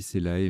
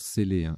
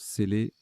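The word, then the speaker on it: cellae: Alors, je dis Célae, mais ça se prononce Célé, S-E-2-L-A-E, se prononce Célé.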